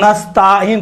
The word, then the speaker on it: نستعین: ایاک نعبد، دیکھیں نستعین، نستعین کیا پڑھتے ہیں؟ ایاک نستعین، دیکھیں تا کے اوپر الف نہیں ہے، یہ چھوٹے حرکات میں سے ہے، زبر بڑا حرکات نہیں ہے کہ نستعین تلفظ کریں۔ اکثر و بیشتر تلفظ